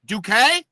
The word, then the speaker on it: Duque: I don't want to say it wrong Duque yes okay you can just call me